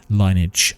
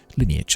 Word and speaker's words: lineage: graphics and also for maintaining linage uh from the Halo franchise lineage I should say I'm so sorry about that it's different pronunciation of the word and particularly in regard